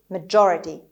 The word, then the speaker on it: majority: خب اولا که استرس روی ج هست، majority و اینجا این او نصفه صدای بین او و آ هست، نه او نه آ کامله. majority. خب و تم که میدونید در امریکن انگلیش گاهی شبیه یه د تلفظ میشه، یکم عقب‌تر از جایی که باید باشه. majority دی نیستا، تی هم نیست.